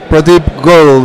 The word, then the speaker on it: Pradeep Goel: me personally was Solve.Care, and we're here with Pradeep Goel. Do I pronounce it correctly?